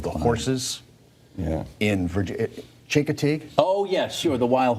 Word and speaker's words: Chincoteague: and Klein looks at me and he says shank a tag I was on the phone yeah just admit you can't pronounce the word no idea it was and